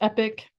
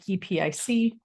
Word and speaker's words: Epique: to pronounce it because it's spelled in the French way but it is pronounced epic just like epic um but if you're